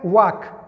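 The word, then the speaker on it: walk: او یا لکه واک، ګوره والک به نه وایه، دا ال چې دی دا سایلنټ وال نه ویل کیږي.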